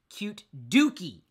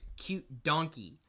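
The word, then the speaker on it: cutedookie: Get Diane in here says, cute dookie. And I mispronounced that handle the other day. I thought it was cute donkey.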